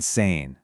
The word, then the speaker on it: sehen: And sometimes that E will stretch out into a long E sound, like in sehen, to see, which becomes siehst.